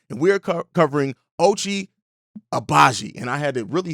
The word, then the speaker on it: Agbaji: name to say but reading it he has he has a letter in there that's silent and it kind of throws